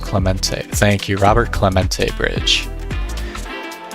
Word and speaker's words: Clemente: taking a look at I think it's pronounced Clemente thank you Robert Clemente Bridge showing that I